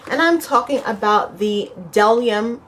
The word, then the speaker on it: Bdellium: And I'm talking about the Bdellium, because the B is silent, right? I've heard that they said that the B is silent. Bdellium brush set.